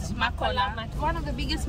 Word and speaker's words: Makola: Is that the way it's pronounced? Yes, Makola Market.